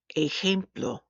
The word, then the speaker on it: ejemplo: Where there are some regional differences, the Spanish letter J sounds like a hard H. We've already seen one of these words, so pronounce after me. Ojo, ojo. Jamón, jamón. Baja, baja. Ejemplo, ejemplo.